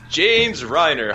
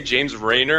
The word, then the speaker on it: James Reiner: My name is James Reiner. Hello. I didn't want to say it wrong. It's okay. People tend to say James Reiner, and I'm just like, no, the cringe.